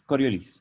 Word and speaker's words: Coriolis: si colores también haya y se pronuncia la es el final igual sí yo creo que yo nunca lo había escuchado bueno bueno aclararlo es coriolis ya y es el parámetro